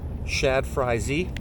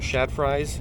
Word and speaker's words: Shad FryZ: fishing this this little is it zman Shad fry Z or Shad fries I think it's pronounced Shad fry z uh just a